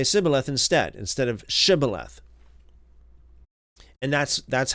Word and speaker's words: Shibboleth: it a different way, instead of say Sibboleth instead of Shibboleth, then that's how they would be able to identify the Ephraimites or not. So this is one of the most famous examples of a dialectal difference in the scriptures. The Ephraimite could not pronounce the SH.